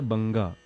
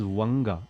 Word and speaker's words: बंगा: Just yesterday I was listening to somebody singing it as Vanga, and that is ridiculous.